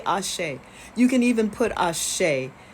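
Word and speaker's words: Axé: Ashe. It's also Brazilian Portuguese is A-X-E. Ashe. The X is pronounced like S-H.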